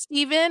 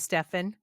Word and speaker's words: Stephen: sure it's Steven or is it Stefan? Well, you know what? It's spelled PH, so Uh-huh. it's probably Stefan.